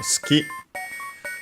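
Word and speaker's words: 好き: Uh first we have ski as a reminder the between it's between unvoiced consonants so it's barely heard if at all. So ski also accented on the last syllable uh which means liking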